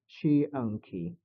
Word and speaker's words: Xiangqi: The elephant we're looking at here is similar to the one in Xiangqi, Xiangqi, Xiang. Shianki. Yeah, I I've just learned about its pronunciation.